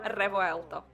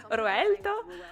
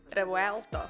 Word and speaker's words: Revuelto: від абсолютно нового ревоелто Саме так Воно має звучати хоча не зовсім Треба гарно вимовляти р люди просто знущаються з назви цього автомобіля хтось каже руельто що Як виявилось неправильно Я питала в італійців і вони кажуть ні-ні-ні реелто це наступник авентадор але